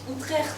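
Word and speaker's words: Utrecht: non plus que le traité d'outrcht se prononce outrert à la hollandaise et pour finir que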